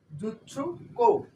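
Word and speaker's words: じゅっこ: আরেকটা আছে এইখানে ব্যতিক্রম, এই দেখতে পাচ্ছেন জুৎসু জু জুৎসু কো, এই উচ্চারণটা হবে জুৎসু কো জুৎসু কো পেপার ক্লিপ।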